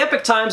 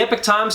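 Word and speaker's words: Epoch Times: epic times now the epic times is spelled like this but it's supposed to sound like this the epic time you see it's a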